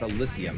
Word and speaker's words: Elysium: Is it Elysium? I'm not even... it's Elysium. That's the way you're supposed to pronounce it.